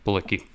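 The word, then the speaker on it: Bilicki: Yeah, Bulicki.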